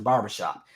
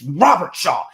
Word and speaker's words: Robert Shaw: He was like, I thought it was Mr. Barbershop. It's Robert Shaw.